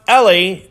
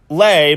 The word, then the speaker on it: LE: billion searches well it it is pronounced le just lay by itself also competes basically with